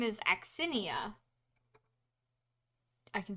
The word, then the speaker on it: Aksinia: Her name is Axinia. I can spell that for you guys if you want. It's Aksinia. Can you repeat that? Axinia.